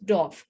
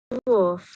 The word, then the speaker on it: dwarf: So they are known as dwarf. Now please listen to this pronunciation. Dwarf. Dwarf. You need to silence the R. You cannot say dwarf.